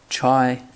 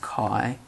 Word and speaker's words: chi: we're going to use the chai but pronounced chi dist function but that is